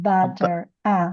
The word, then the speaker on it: batter: bu- Yes, bu- batter. Yes, butter. batter, not butter, because yeah, you pronounce it the same as butter. You say butter, Mhm. butter. Batter. It's wide, широкий звук.